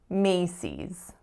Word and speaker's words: Macy's: we have cease cease the strongest syllable is the first Macy's Macy's and number 10